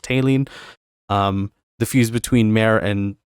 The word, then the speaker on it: Taline: For Gaia and Mare, so water and earth, it is Taline, which is Ptaelan. So basically the P in the beginning is silent, so it's just Taline.